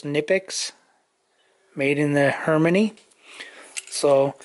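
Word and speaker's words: Knipex: I think the K is silent, so it's Nipix, made in the Harmony.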